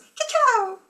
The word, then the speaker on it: cacao: So you taught us cacao.